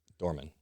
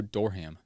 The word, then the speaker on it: Dorman: Most people have no idea how to pronounce my last name. Dorman. Yeah. Like opening the door. I'm working on my spelling and reading and writing. A lot of people stuff. go Dorham. I almost did that. I was like, what? I'm like, what is a Dorham? Because I'm trying to remember the H when I'm writing it in my mind. It's silent. H is silent.